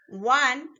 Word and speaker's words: one: One start with wa sound. Wa is a consonant sound.